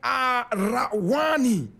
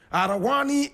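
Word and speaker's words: Araouane: He was born in Arawani. Arawani is spelled A-R-A-O-U-A-N-E. Arawani. Arawani.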